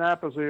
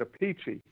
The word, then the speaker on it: Appice: rods through it and I think rod started pronouncing it a piece so he went with that oh that sound though I said apathy so there's happens to be a piece and then we have an older brother who pronounces it a peachy but it's funny it